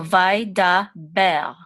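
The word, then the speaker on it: וידבר: This is like a guttural R. So Vai, Da, Ber.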